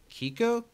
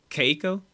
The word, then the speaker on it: Keiko: i believe is the creator is her name kiko how do you do you know how to say it keiko that this episode was written by keiko nobumoto